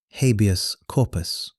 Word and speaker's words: habeas corpus: Your Honor, if I may, I believe you mispronounced habeas corpus. The correct Latin pronunciation uses a hard C, not the anglicized soft C.